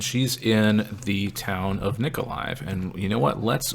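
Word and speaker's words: Mykolaiv: uh i know it's written mikaleiv but it's pronounced nikolai uh so in any case uh her mother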